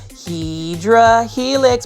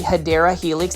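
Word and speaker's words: Hedera helix: guys off with a random shout of Hedra Helix, but it's basically me mispronouncing a um plant name. It's actually Hideera Helix.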